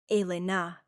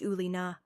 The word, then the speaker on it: Elena: He pronounced it correctly. A-lay-na, not the Americanized U-lay-na, with a slight accent that suggested he spoke more than one language fluently.